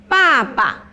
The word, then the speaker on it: 爸爸: And in Chinese, say 爸爸. 爸爸 Baba. 爸爸 Yes, there is a tonation. So falling tone.